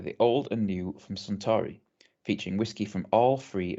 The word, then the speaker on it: Suntory: But it's I know it's Suntory whiskey. I know that's how you pronounce that.